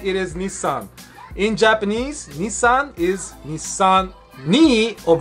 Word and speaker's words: Nissan: drifting culture and it is Nissan in Japanese Nissan is his son me of Nissan stands for